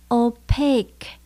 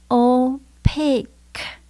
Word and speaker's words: opaque: Ở trong từ này chúng ta nhấn âm số 2 nhé. Opaque. Mình lưu ý có từ cuối cùng là chữ Q-U-E. Mình phát âm là K. Opaque.